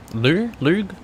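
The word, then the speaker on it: Lugh: Lug? How do you say his name? Lou. It's Lou.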